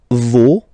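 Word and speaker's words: vos: and then okay so remember even if you've got this final s you don't pronounce it as it was the case already for this word no you don't pronounce the final s Vo doesn't bring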